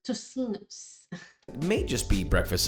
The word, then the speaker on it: tocinos: Also, a lot of the crew kept calling this totinos, and now I understand why you all judge my pronunciation so often, so thank you for that. Moving on to what looks like Tocinos.